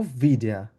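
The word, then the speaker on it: wieder: For example এখানে ভিডা, আর এর কিন্তু উচ্চারণ কিন্তু এখানে একদমই হয়ই না, আমরা আর এর উচ্চারণ বলিই না, তো তার মানে যে আর এখানে নেই ব্যাপারটা কিন্তু তা না।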